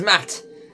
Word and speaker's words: Matt: not an inch less the name is Matt the second T is silent okay Matt I'm gonna